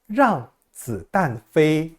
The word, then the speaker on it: 让子弹飞: 중국어로는 이렇게 씁니다 . " 랑쯔 단페이 " 라고 발음 합니다 .